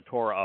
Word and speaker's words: Torah: But when they say Torah, they're pronouncing the wah sound, because Torah has a wah in it, and it creates the O sound.